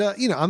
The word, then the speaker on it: Ai: It's I, which is A-I, that's his first name, and then Wei Wei, which is W-E-I, W-E-I, and that's all it is.